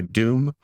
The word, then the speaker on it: DEWM: And by the way, Doom is spelled D E WM.